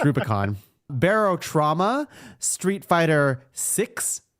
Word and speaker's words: Rubicon: Super Mario Wonder armored Core six fires of Rue Brion no it's not it's Rubicon Barrow trauma Street Fighter six in Roman numerals